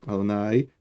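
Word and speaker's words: יהוה: Y acá está escrito Adonai, Yud, Hei, Vav, Hei, que se pronuncia Adonai cuando estamos leyéndolo o hablando y no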